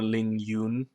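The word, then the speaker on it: LingYun: the V2 and uh in English people probably say ling Yan or Ling Yun however they choose to pronounce the uh the U in there in Chinese it's Ling y so uh both tones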